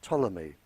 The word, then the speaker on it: Ptolemy: In 64 BC, a Greek living in Egypt by the name of Ptolemy, spelled with a P, he, a very famous scientist, and his work is still used today.